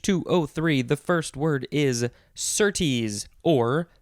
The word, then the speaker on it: certes: The first word is certes or certs. Certs. Wasn't that a mint from when I was a kid? This one is spelled Certes.